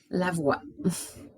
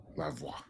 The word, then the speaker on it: Lavoie: Lavoie. Lavoie.